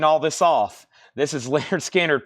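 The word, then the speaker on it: Lynyrd Skynyrd: get done reading all this off this is Leonard skinnard pronounced Leonard skinnard this is a gate fold super clean copy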